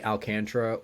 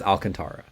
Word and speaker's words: Alcantara: Um I first of all, it's only Alcantra when there's white people pronouncing his name. It's Alcantara.